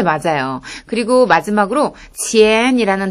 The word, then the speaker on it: 钱: 그리고 마지막으로 钱이라는 단어는 돈을 뜻하고요. 아래에서 위로 부드럽게 올려주세요.